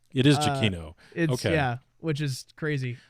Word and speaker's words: Giacchino: Giacomo, how does he pronounce it? It's actually Giacchino, believe it or not. It is Giacchino.